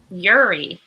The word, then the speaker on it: Uri: Okay, and it's Uri, or can you pronounce it for me one more time? Like Corey without the C.